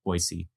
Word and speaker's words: Boise: And so if you want to fit in in Boisey, you use the S sound. So Boisey.